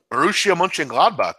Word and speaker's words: Borussia Mönchengladbach: Borussia Mönchengladbach. Good pronunciation there by you.